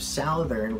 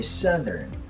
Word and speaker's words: southern: Instead of southern, we say southern.